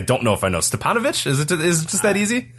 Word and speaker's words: Stipanovich: Stipanovich? Is it just that easy? I'm 99% sure it's Stipanovich, yes.